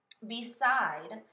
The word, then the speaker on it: beside: I made a mistake beside is two syllables I should only have part of that word underlined and let me let me go through that whole the try to decide which syllable I should have underline beside or bide it should be the second syllable that is stressed so I'm going to